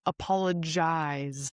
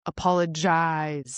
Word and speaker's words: apologize: So, the verb is apologize, similar to eyes, apologize.